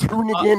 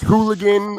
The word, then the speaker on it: Hoonigan: When he mispronounced hoonigan as hooligan or multiplier instead of multi, like that's some funny stuff, man.